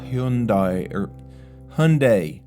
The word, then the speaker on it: Hyundai: Okay, back to the defective Hyundai. Rhymes with Sunday.